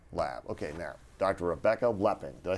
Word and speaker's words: Lepping: Rebecca Lepping.